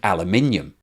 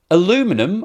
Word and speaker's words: aluminium: hydro let's talk about the process of making aluminium aluminum or aluminium depending on which side of the fence you're on is the most abundant